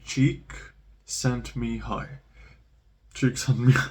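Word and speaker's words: Csikszentmihalyi: can't pronounce the name it's like cheek sent me high tricks on me like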